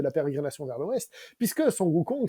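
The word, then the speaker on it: Sun Wukong: pérégrination vers l'ouest puisque sukong c'est la prononciation chinoise donc originale de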